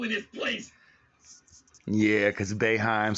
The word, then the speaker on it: Boeheim: Yeah, because Boeheim sound like A, but the O's in his place.